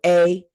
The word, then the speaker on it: Haute: You know how they say hot couture, maybe a hot cookie. It's spelled Haute. So Haute cookie.